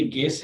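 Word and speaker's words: guess: इसी तरह से ये गेस है, इसमें यू जो है वो नहीं पढ़ा जाता, गाइड में भी यू नहीं पढ़ते।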